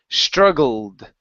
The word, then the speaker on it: struggled: okay in this word the E is not pronounced struggled struggled there you go